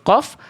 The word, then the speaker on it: ق: Jadi, untuk huruf qaf, pangkal lidah hanya menyentuh langit-langit lunak, yang merupakan bagian terdalam dari langit-langit mulut.